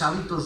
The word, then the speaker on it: hábito: en la palabra, pero ya no se pronuncia y no significa lo mismo.